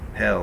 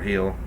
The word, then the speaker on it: Hel: daughter, her name was Hel or Heel, depending on how you want to pronounce it.